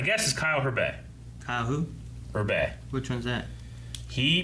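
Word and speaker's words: Hebert: is kyle herbert who berbet which one one's that he plays uh adult gohan and the dragon ball super narrator this narrator yeah kyle herbert yeah yeah i think he's pronounced urbe but yeah rob you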